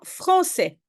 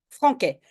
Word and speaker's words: français: prononce S j'écris maintenant français pourquoi il y a une CDI parce qu'il y a un a qui suit et si je ne mets pas de CD je prononce franquais pardon leçon tu écris